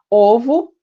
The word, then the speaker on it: ovo: Ovo, fechado, ovos, aberto. Osso, fechado, ossos, aberto.